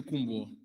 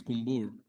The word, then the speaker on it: Kumbur: The pronunciation of the name in the media we say Kumbo, but I think it is Kumbur.